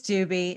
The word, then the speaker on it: Dubey: uh sj dude dubey butchered that it's doobie no it's doobie and there's a there's